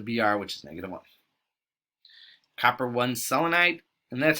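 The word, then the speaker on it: copper(I) selenide: which is negative one copper one selenide and that's how it's actually pronounced the row you don't say copper roman numeral you just say say the number copper one selenide c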